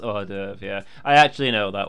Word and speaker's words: hors d'oeuvre: The horse devours, yes. Pronounced hors d'oeuvre, yeah.